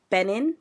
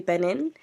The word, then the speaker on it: Benin: Benin. B N I. Am I saying it right? Benin. Yeah, Benin.